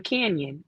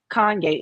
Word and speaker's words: Kanye: kanye west they the white people called him canyon canyon canyon west like the porsche canyon west like they couldn't pronounce kanye and they would say oh it it's mispronounced